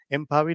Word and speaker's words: MAUI: The P is silent because Maui does not sound very well.